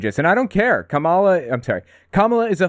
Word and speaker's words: Kamala: everybody has endorsed Kamala that's how her name's pronounced by the by Kamala not Kamala for what it's worth I thought it was Cala she's the nominee now